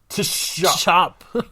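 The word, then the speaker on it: Tschopp: right here sorry oh that's his name yeah chop chop chop chop Emanuel chop chop chop chop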